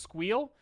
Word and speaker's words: SQL: called SQL or squeal it is objectively and incontrovertibly pronounced squeal if you hear someone else pronounce it a different way those people are wrong okay you heard it